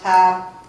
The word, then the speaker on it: HFASS: They shorten sometimes just to refer to it as the House, or by its acronym, HFASS, which they pronounce HAP.